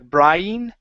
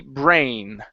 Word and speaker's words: brain: Um, most often when you have two vowels together, they do not make two different sounds like brian. Okay. They make one sound. This sound would be brain. Brain. Uhhuh. Brain. They make one vowel sound. Instead of brian, it's brain.